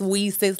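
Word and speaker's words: WiCyS: in cyber security and is pronounced we sis like we sisters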